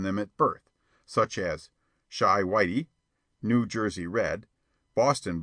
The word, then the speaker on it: Chi: sailor boy and printer Bo Chi pronounced shy by the way is the argot for Chicago a favorite device of